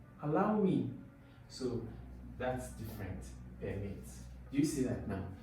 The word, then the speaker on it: permit: So words will often change, and when the use of words change, the stress on the syllable in that word will also shift, especially when it's between nouns to verbs, okay, or adjectives to prepositions.